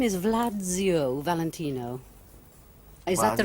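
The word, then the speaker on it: Władziu: Gesundheit, you know, because it sounded like I was sneezing.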